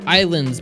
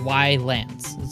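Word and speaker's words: Ylands: uh what's next is Islands but with a why it's coming seem early access later this year yep it's by Bohemia Interactive oh great devs how it felt fantastic yeah why Lance but it's pronounced islands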